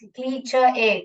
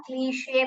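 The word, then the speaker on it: cliché: ये बहुत लोग क्या पढ़ते हैं, क्ली, और ये सी एच च है, क्लीच ए, क्लीच ए ऐसे पढ़ते हैं। ऐसा नहीं पढ़ने का, क्लीशे पढ़ने का। इसको कैसे प्रोनाउंस करते हैं? क्लीशे।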